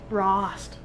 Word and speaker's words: Rost: And so now I just kept thinking it was roast, but it's Rost.